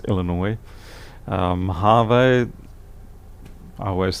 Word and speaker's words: Illinois: 3 me I mean until recently I had no idea that Illinois was pronounced Illinois I mean probably for 40 years of my life I pronounce that is annoy us or something like that and then one day here it's Illinois we have a I